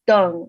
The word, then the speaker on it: Dang: English, and like my last name is Dang, but it's actually pronounced Deng in Chinese.